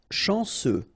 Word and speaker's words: chanceux: Chanceux. Final X not pronounced. And then remember C, E, U will give you this se sound.